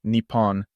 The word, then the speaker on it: Nippon: it to double consonants double consonants mean we pause for a tiny moment and make the consonant sound a little stronger so we say Nippon with a small pause before the pawn however in certain cases